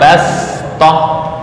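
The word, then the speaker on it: بسطة: tulisannya pakai Shad bas Bast itu tulisan cara membacanya Bash ya dibaca dengan Sin Bash Apa perbedaannya Shad itu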